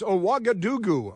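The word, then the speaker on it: Ouagadougou: It's Aagadoo. Aagadoo is the capital of Bkira Faso. It is my favorite capital anywhere in the world. Aagadoo.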